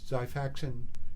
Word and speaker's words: Xifaxan: Xifaxan, spelled with an X, sounds like a Z, will treat infections, chronic infections.